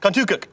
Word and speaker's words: Contoocook: Contoocook River? Contoocook? Yes. Say it fast. Contoocook.